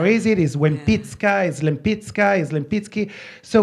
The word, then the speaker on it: Lempicka: name, I learned, so we pronounce it Lempicka at home, but in my first trip to Poland, I realized that the L is pronounced wa, so it was Wempicka.